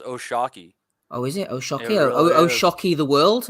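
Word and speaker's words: O'Shaquie: Foster but oh Sharky it's not even oh shaky it's pronounced oh Shockey oh isn't it the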